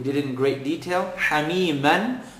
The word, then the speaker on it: حميما: Hamiman, double accent. The next letter is a waw, part of yarmalun. Stick the shadda. Hamiman وغس.